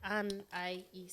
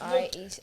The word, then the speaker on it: Anaïs: It's like Anais. Yeah. Anaïs. The 2 dots over the eyes. That's a French thing.